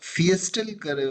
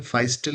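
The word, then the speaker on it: Feistel: ना यूज करें और इसे फियस्टल फाइसल मतलब उसका उच्चारण है। फाइस्टल करके एक क्रिप्टोग्राफर थे।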